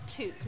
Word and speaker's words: toque: Ooh, and it's a toque. pronounced toque, not toque.